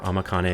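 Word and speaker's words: 甘金: kanji we've seen here the first two are amakane and the last one is jima amma here means sweet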